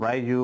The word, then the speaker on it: Raiju: mando de Racer con el ru rayu o como queráis pronunciarlo escri con j Bueno lo voy a